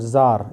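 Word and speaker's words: czar: लिए अब यह है यह वर्ड जार इसमें सी जो है ये साइलेंट है ठीक है अब ये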